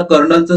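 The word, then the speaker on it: colonel: पाठीमागे मी तुम्हाला कर्नलचं स्पेलिंग विचारलं होतं, बऱ्याच विद्यार्थ्यांनी या ठिकाणी राईट उत्तर दिलेलं आहे।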